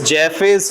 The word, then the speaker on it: Jaffe: Is it Jaffe's or Jaff's test? Jaffe's. Jaff's test. Please correct it. It is Jaffe's test.